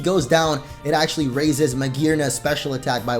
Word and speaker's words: Magearna: Going back to the trailer though, we also have the official reveal or English reveal of Magearna, which I was totally pronouncing wrong before, but I guess it's Magearna, the Steel and Fairy mythical Pokemon.